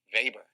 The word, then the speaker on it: Weber: say max weber its german and colin max faber and we're going to be reading max labor